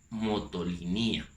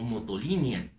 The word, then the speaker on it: Motolinia: Fray Toribio de Benavente Motolinía o Motolinia, según como lo quieras pronunciar en el náhuatl, va a ser sin el acento, o ya castellanizado, como nosotros lo conocemos.